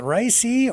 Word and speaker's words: Raisi: with Iranian President Raisi's, is it Raisi or Raisa? It's spelled R-A-I-S-I, yeah, Raisi. Yep, Raisi's aircraft, so Canadian, with concern.